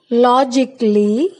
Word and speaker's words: logically: But if a word ends in I-C-A-L-L-Y, A is not pronounced. Try to say after me. For example, logically, musically, practically, basically.